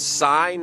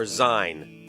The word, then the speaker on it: Syne: you of think those it's sign or zine? I think it's S-Y-N-E. I know, but how do you say it? It's got a little more like Z a in it. Oh, Lang Syne. Yeah, I'd say Z. Yeah, right? Z-ish, yeah. A little more Z in it than S.